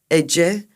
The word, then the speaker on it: Ece: It's pronounced like Janissary. Ece. My name is Ece, and I think, and I hope, this means enough.